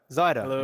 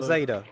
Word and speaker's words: Zaida: our guest today is say his name right don't say it wrong Zyda black cider zider not zaida like I've shouted in